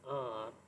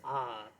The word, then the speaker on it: hour: We cannot say or pronounce the H there. We have to skip that sound, H sound. Okay, in an R, it's not hour, it's R.